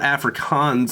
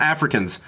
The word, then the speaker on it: Afrikaans: So it's not Afrikaans. It's not Africans.